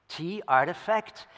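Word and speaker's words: RTFKT: Nike, as you might know, works together with Artifact, which is spelled R-T-F-K-T, Artifact.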